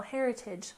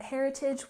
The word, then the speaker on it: heritage: next we have cultural heritage with a stress on the first syllable in cultural cultural and Heritage we stress the first syllable heritage heritage and this refers to parts